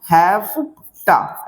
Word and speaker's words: hafta: हैफ्टा, हफ्ता नहीं, हैफ्टा, ऐसे.